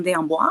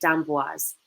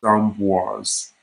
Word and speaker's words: D'Amboise: You pronounce the S. Everything is correct, but because there's an E at the end, for like the name Dubois, it's Bois. So you don't pronounce the S, but because there's an E after the S in my name, you would say D'Amboise.